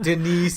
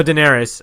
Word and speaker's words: Daenerys: Denise, Denise, the Queen of Dragons. No, Daenerys.